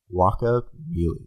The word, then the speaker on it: Guacamelee: Guacamelee. Like guacamole? Like guacamole, Guaca. only like Super Smash Brothers Melee.